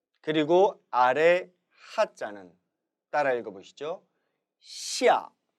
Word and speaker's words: 下: 시아, 시아가 됩니다.